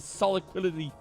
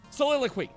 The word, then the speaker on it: soliloquy: Oh, spare me the soliquidity. How do you say this word again? Hold on, I'm learning the English language. Soliloquy. Soliloquy. There we go.